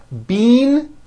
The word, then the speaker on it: bean: The word bean, spelled B-E-A-N, which you eat, is pronounced with a high E sound.